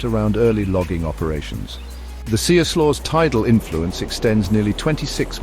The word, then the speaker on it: Siuslaw: The Siuslaw, pronounced Siuslaw, begins in the Coast Range and flows 109 miles to the ocean at Florence.